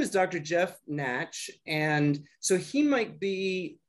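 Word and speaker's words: Nacht: it's jeff and then the last name is n-a-t-c-h it's spell it's pronounced natch it's spelled n-a-c-h-t n-a-c-h-t and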